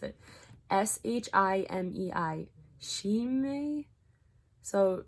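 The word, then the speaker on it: Shimei: name first and then i'm gonna try to pronounce it s-h-i-m-e-i she may so she may said this in 2nd samuel 16 verses 7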